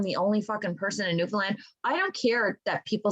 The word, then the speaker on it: Newfoundland: I'm like, how would you fucking know that it's Newfoundland if you're not from Newfoundland? Yes, it's spelled land, but Finland is spelled Finland, and you don't say Finland. So why would anybody think it's Newfoundland?